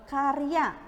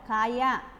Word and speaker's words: karya: Contohnya ya, contohnya ini karya, dia baca kaya. Nah itu tidak harus karya, jadi nggak kaya, jadi nggak, lafalnya kurang pas.